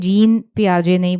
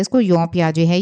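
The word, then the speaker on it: Jean Piaget: जीन पियाजे, इसका उच्चारण "जीन पियाजे" नहीं, बल्कि " जीन पियाजे" है। यह एक फ्रांसीसी नाम है, इसलिए पियाजे के संज्ञानात्मक विकास के सिद्धांत में अवधारणाओं की भी प्रमुख भूमिका है।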